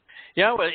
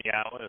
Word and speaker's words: Yahowah: The Y in Yahowah is pronounced exactly as we would pronounce the vowel consonant Y in English, like in the word yes.